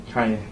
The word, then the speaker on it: Kanye: Kanye. I'm sorry? Kanye. Oh, I'm from Ohio. We say Kenny. That's how we pronounce it. Well, I don't care where you're from. You pronounce my name Kanye.